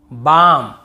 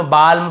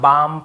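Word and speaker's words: balm: डी एफ के एम डी एफ के एम इसके पहले एल हो तो हमें नहीं पढ़ना है। जैसे काम बाम पाम और यहां पे आमंड बहुत से लोग आलमंड ऐसे बोल देते हैं। बहुत से कालम बालम पालम नहीं होगा।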